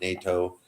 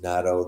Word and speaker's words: natto: past week about uh even natto or NATO I think it's pronounced natto that fermented soybean that